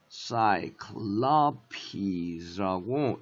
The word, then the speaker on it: Cyclopes: 그래서 Cyclops. 여기에 stress가 들어가거든. 여기에. 그래서 Cyclops. 이렇게 읽는데 여기가 이렇게 plural. 복수가 되잖아. 그러면 Cyclopes라고 이게 is라고 발음이 되면서 여기로다가 스트레스가 옮겨가. 여기로.